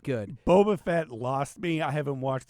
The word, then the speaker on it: Boba Fett: was it's the same will you stop saying Bubba Fett it's Boba Fett fine Boba Fett thank